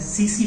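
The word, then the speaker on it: tsetse: है, उसका नाम है सीसी फ्लाई, ठीक है, सी फ्लाई, ठीक है। इसको टीसी फ्लाई नहीं बोलिएगा, सीसी फ्लाई बोलिएगा, टी साइलेंट रहता है।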